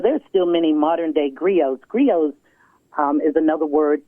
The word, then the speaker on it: griot: still many modern day griots griot's um is another word for oral historian and grio is spelled g-r-i-o-t so once again there